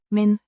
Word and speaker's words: men: Pronounced. men, Similar to the English word.